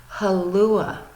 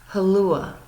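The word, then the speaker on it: hallå: but they pronounce it halua, halua. So it's interesting because to me it almost sounds like aloha hula.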